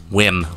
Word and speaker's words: Wyrm: Okay, I found this on the web for pronounce Wim. Check it out. Wim.